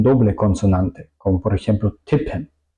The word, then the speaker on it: tippen: Al contrario, tippen, mit. ¿Ok? Tippen, teclar. Eso queda claro porque tenemos un doble consonante.